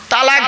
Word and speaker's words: তালাক: আছি এখানে বউ এনে দেবো চিন্তা নেই হ্যালো তালাক বলেন তাইতো শব্দটা তালাক বলবেন না শব্দটা তালাক নয় এইটাই তো ভুল